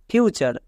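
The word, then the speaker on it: future: pattern দিয়ে মনে রাখবো যেমন দেখো ফিউচার এখানে ওয়ার্ডটির শেষে টি ইউ আর ই আছে তাই টি এর জন্য চো হবে মানে কি দাঁড়াবে টি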